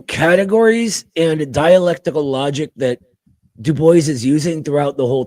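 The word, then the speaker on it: Du Bois: Uh, number one, Dubo. He was very particular about his name. Dubo is actually how it's pronounced, believe it or not.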